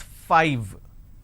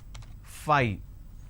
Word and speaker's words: five: or easily understandable it's five correct five but lot of us pronounce that as fight instead of saying 5 lot of us mispronounce this as Phi this mispronunciation can lead